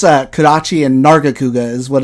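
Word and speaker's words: Nargacuga: of stuff yeah it it's uh karachi and nargakuga is what it's pronounced but i only know how to say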